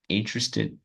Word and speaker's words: interested: Ela é meio chatinha, né? Muitas vezes as pessoas confundem ou falam a sílaba tônica, a parte forte da palavra, né? Elas trocam de lugar, elas esquecem.